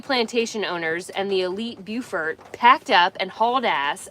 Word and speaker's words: Beaufort: Beaufort is pronounced Beau-fort, beautiful fort.